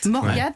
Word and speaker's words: Morgat: N'hésitez pas à visiter les grottes de Morgat, je prononce bien Morgat, voilà.